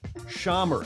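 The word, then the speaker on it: Xammar: have figured that out an x is pronounced like an s-h in english and i appreciate her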